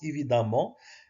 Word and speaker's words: évidemment: évidemment évidemment c'est l'adverbe, ça se prononce évidemment comme si avec un a mais à l'écrit ça